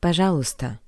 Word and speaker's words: пожалуйста: Please note that the letter "ye" is not pronounced. But "pazhalusta".